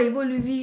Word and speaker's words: Évoluvie: C'est ça, Évoluvie, je l'avais mal prononcé, hein.